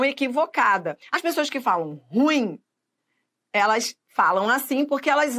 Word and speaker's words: ruim: a uma identificação equivocada as pessoas que falam ruim elas falam assim porque elas acham que a sílaba tônica no ru né mas é ruim ruim não ruim nada de falar por aí